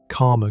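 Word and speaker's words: Caldmore: A man in a gray car pulled up and asked for directions to call more green using the local pronunciation karma green, which told investigators he was almost certainly from the area.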